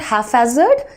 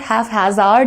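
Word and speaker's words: haphazard: लेकिन हैपहैज़र्ड के केस में ऐसा नहीं है, इसमें आपको P का साउंड भी देना चाहिए।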